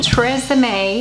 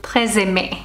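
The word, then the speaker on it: TRESemmé: The Tresemme. I think the actual pronunciation would be closer to Tresemme.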